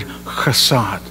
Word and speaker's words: hesed: is his faithfulness at Hebrew word kassad it's a kind of pronounced with a spit you know if you